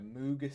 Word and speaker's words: Mohg: According to Moog.